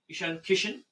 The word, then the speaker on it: Ishan Kishan: Did I pronounce that correctly? Ishan Kishan?